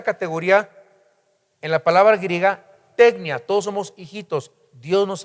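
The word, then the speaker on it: τεκνία: primero y dice hijitos esa palabra es tecnia con k en el griego tecnia os escribo a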